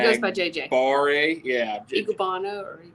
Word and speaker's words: Enagbare: Igubana or Igubara. Enagbare. I can spell it because I'm a writer.